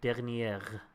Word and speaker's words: dernier: You pronounce the R at the end of dernier, but otherwise it's pretty good.